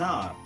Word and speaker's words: hour: And an hour, an hour. Here it is. R is the H-O-U-R. The spelling of R is H-O-U-R. So where the H is silent, so we have to give important for the vowel sound there.